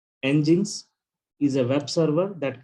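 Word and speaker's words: nginx: sentence there is something ng inx engines it's pronounced as engines okay okay and now what is this engines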